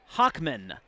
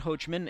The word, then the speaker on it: Hockman: It's Hockman. Relating to number 21, Trip Hockman, not Hochman, and I do apologize. We have been saying Hochman. It is Hockman, and from now on, we will say Trip Hockman.